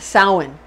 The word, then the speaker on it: Samhain: like it's spelled samhain but it's actually pretty pronounced samhain samhain it's spelled like sandman but we say